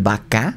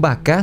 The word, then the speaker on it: Bacá: Buscar por su cuenta es b de burro a c a con acento como vaca como el animal pero con b grande y con acento en la segunda a y aquí está muy